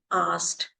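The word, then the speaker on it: Arzt: Doctor meaning asked, A-R-Z-T, asked, or if the doctor is female, then it is called as Erstein.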